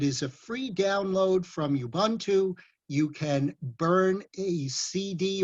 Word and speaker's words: Ubuntu: then of course there is Ubuntu or properly pronounced Ubuntu which is a Linux operating system a free